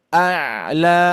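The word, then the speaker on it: الأعلى: A'la. Hati-hati lanya tidak terpengaruhi dengan huruf ain ya. Jangan sampai a tapi a'la a'la.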